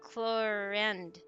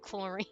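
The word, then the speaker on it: Clorinde: Chlorine equals chlorand. Chlorand. Oh, so it's more like a a a sound instead of a I. See, I was like chlorin. I was thinking it like chlorine.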